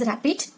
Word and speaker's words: RAPD: Okay, it is this one, and this is pronounced as rapid.